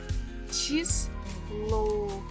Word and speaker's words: число: And numbers we pronounce as ch, I, chi, s, lo, число, число, число.